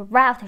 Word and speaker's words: route: 就是你在这个车站可以拿到这个路线图哈那这块注意一下 route map 指的是那个线路的那个地图那 route 这个词也可以发作 route 这个音就是 route 是美式的一个发音方式那 route 呢是一个英式的这两个发音都对你们就记下来就好了那 D 选项 you must also supply your